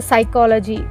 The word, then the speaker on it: psychology: c a b e like you will pronounce the psychology. P is silence, right?